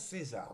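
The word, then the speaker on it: Caesar: Alors j'ai demandé hein, ça s'écrit C A E S A R mais il paraît que ça se prononce César. Donc je prononce César hein, vous savez, on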